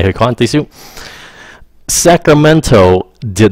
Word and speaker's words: Sacramento: Now, người bản xứ, người ở thành phố của mình nó không có cái bằng Sacramento. Họ đọc là Sacramento. Họ bỏ cái âm T ra luôn.